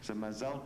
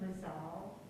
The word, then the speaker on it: mazal: are more tuned into the contemporary Hebrew pronunciation will write it M-A-Z-A-L.